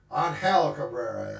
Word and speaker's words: Angel Cabrera: Angel Cabrera is how he pronounces it.